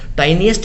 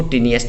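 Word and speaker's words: tiniest: टाइनिएस्ट भी बोल देते इसको, टीनिएस्ट भी बोल देते हैं, दोनों प्रोनाउंसिएशन ठीक हैं।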